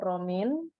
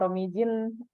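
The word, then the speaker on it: Romijn: ada 4 ada namanya alat ukur romin kalau bacanya Romy Jin berarti orang Indonesia sekali Anda ini biasanya bahasa Belanda ya jinya nggak dibaca jadi alat ukur kemudian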